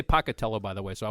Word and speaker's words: Pocatello: He is the museum director for the Museum of Clean in Pocatello, Idaho. Am I saying it right? Pocatello? You are. Most people don't, but that's very good.